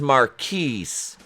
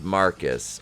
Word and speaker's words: Marquis: her and then comes marquise which is pronounced marcus okay it's spelled m-a-r-q-u-i-s but pronounced marcus off